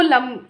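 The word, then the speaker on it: लं: हैं ना, तो वो लम होता है इसका। कैसे? ऐसे जीभ को थोड़ा सा रोटेट करके लम लम। It sound sometimes funny but it's reality. इसका प्रोनाउंसिएशन ऐसे ही है।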